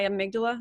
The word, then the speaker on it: amygdala: So it's not me, it's my amygdala.